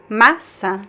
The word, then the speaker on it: massa: And the second word, masa. The stress is in the first syllable. Massa. Masa. There's no nasal sound.